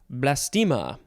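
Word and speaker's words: blastema: we have the word blastima it's blast plus ema noun from circa 1823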